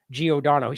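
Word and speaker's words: Giordano: so here is and he got the name wrong in this it's James Geodon he corrected it down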